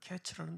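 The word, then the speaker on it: קֵץ: 말씀드렸던 것처럼이 언어적인 유인인데 여름 과일이라는 단어가 카이츠라는 그런 발음이었고 끝이라는 단어는 캐츠라는 단어였어요.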